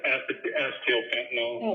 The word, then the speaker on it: acetyl fentanyl: Acetyl fentanyl.